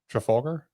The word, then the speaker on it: Trafalgar: Memorial, she launched her strategic business and consulting firm, Trafalgar. Trafalgar? Is that how Yeah. it's pronounced?